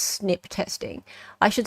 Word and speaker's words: SNP: used and thrown around single nucleotide polymorphisms pronounced snip testing I should stress